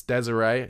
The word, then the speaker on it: Désiré: Now, it's Désiré, he's got an accent on his E, but it's spelt desire.